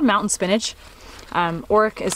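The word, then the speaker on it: orach: Next, we have a really beautiful plant called Oric.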